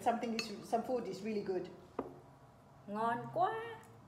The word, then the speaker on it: ngon: Ngon quá. Ngon. Ngon. Oh, perfect. Perfect pronunciation.